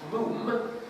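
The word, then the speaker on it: Moffam: And even though they contain many young men of military age, there's only one of them, Archie, M-U-F-F-A-M, pronounced Moom, to rhyme with Bluffing.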